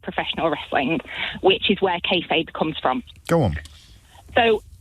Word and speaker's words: kayfabe: I wanted to give you a call to have a chat about kayfabe. Marvellous. And that is the correct way to pronounce it.